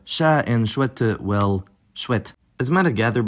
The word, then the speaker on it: chouettes: chat and chouette, well, chouette. As you might have gathered by now, that S is silent, but it will reappear, pronounced as Z in liaison.